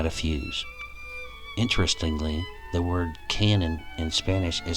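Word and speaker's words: cañón: fuse interestingly the word canon in spanish is spelled c-a-n-o-n and pronounced like the english canyon here's the definition from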